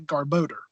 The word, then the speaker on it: Garbodor: evolved form of trubbish garbodor that's how I say it - I've heard garbodor and I've also heard a car boater like the pronunciation or enunciation is the same even then it's still a different pronunciation of it and they even had